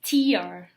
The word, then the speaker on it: tear: And using the same spelling, but a different words, is tear.